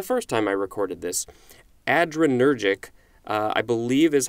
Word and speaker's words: adrenergic: words but it's spelled ADR e n e r g IC so it looks like it's ADR plus energetic but i believe it's